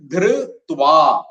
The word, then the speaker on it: ധൃത്വാ: പിന്നെ അടുത്തത് ധൃത്വാ. ധൃ, അവിടെ ധകാരം ഘോഷാക്ഷരാണ്. ധൃ, അതിന്റെ കൂടെ എന്ന് കൂടുന്നു. ധൃത്വാ. ധൃത്വാ.